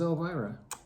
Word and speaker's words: Elvira: carl and my grandma does that say el wyra it does elwyra yeah it could be pronounced elvira and it could just be a german spelling we knew my grandma was elvira not that elvira no